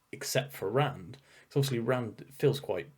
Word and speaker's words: Rand: like I feel like Rand, it being so short, like that single syllable, is really interesting. It's a good name for mm. a main character, apart from the fact that it rhymes with bland, which allows people to